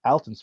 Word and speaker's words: Alton: for all this time it's Alton not Alton Alton Brown yeah